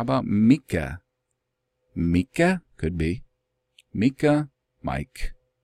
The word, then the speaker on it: Micah: contemporary then with Yeshua his name would more properly be pronounced Myka or I know just hold on possibly Mike why well because as